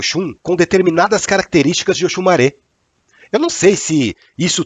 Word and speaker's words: Oxumaré: não sei muita coisa a pronúncia correta é oxumaré e não oxumaré quem entende do idioma yorubá fala que o sol fechado do e no final representa o gênero masculino por essa razão as